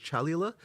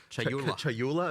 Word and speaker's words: Chayula: The acolyte of, is it Chalula? Chayula. I always say this wrong.